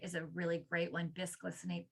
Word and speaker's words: bisglycinate: Bisglycinate, biglycinate, depends on tomato. It's spelled BIS.